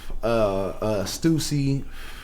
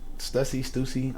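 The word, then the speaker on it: Stüssy: He puts a line over the U, yeah, so it's you have to pronounce. So it's Stussy.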